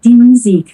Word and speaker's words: Musik: এটা উচ্চারণ কি আছে, yeah music music এর উচ্চারণ হবে music, die Musik, die music die Musik, die Musik music die